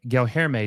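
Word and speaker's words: Guilherme: Gelherme is how you say Gelherme.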